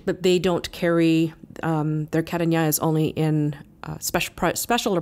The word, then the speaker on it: Carignan: There is a grape from France called Carignan, that's spelled C-A-R-I-G-N-A-N.